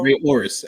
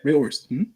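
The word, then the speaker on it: Rey Horus: uh we have uh Ray or how you pronounce that J news because I about to mess it up orus or yeah Ray orus exactly yeah Ray orus that's I was like let me make sure Ray orus versus Sydney aen Rich Swan versus man like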